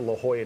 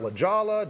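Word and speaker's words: La Jolla: So, the trip's going to include visit to the beach, visit to La Hoya neighborhood, not Ljala. Don't say it like I did for a whole year when I lived there.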